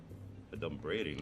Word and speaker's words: adumbrating: Adumbrating, that's not even a word. Okay, first of all, it's pronounced adumbrating.